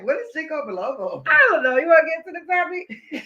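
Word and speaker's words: ginkgo biloba: Mama say I need to take some Jalobo, some Jinko Jalobo or something. No, Jinko Bilobo.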